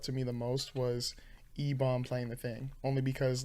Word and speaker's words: Ebon: me the most was Ebon playing the thing only because like and that's how you pronounce his name, right? It's not Eban, it's Ebon.